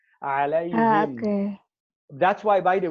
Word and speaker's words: عليهم: It's easy to pronounce the ha with a kasra after ya with sukun. Alayhim. Okay. That's why, by the way, there's one of the Qari, Hamza, he says alayhum.